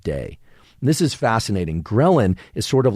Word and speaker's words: ghrelin: And it's called ghrelin. It's spelled GHRELIN.